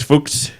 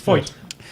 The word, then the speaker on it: Feucht: to maybe call Chris Fuchs. Fucht? Chris Foyt? I don't know how you pronounce Feucht. Foyt. He's got a dumb name. No, Foyt? it's a very German name. It's Foyt.